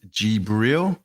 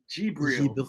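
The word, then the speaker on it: Djibril: The correct way to pronounce his name is Gibril. Gibril.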